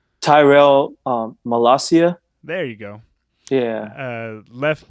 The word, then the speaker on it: Tyrell Malacia: I can't pronounce his name. The So left back. it's Tyrell Malacia.